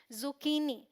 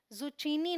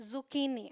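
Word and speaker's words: zucchini: क प्रोनाउंस करेंगे तो यह है जुकनी जुचीनी नहीं बोलना है जुकनी ल राइट ध्यान रखिएगा फिर है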